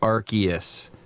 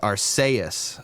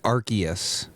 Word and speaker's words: Arceus: the room here this pokemon right here is pronounced arceus if you say it differently well you are